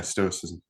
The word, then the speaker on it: Stoicism: Yeah, Stoicism.